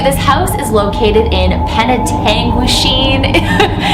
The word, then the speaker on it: Penetanguishene: And also too, this house is located in Penetanguishene. It's taken me a few tries to say it right, but that's a town in Ontario, Canada. Penetanguishene. I always think of penitentiary, like Eastern State Penitentiary.